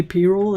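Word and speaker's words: pyrrole: the way did you know that it's actually payroll and i was like what like i'm so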